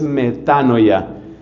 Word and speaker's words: metanoia: Y ese cambio profundo de mentalidad es lo que la Biblia llama metanoia, aunque la pronunciación más correcta en el griego es metanoya.